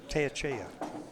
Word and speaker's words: Teyechea: Teyechea. It's a tongue twister. But you got Scott's name right. That's the important thing. Yeah, well, it's Teyechea. Wow. It's pronounced as a little bit different than it's spelled.